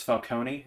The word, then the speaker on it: Falcone: movie we we can go with the movie pronunciations if you want so it's Falcone and then it's uh Raz al Ghul so